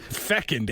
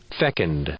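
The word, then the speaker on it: fecund: cheers you're up Fe fcked Fe e c u n d I thought he was saying second but yeah it's like a fertility thing let me hear fcked okay okay was right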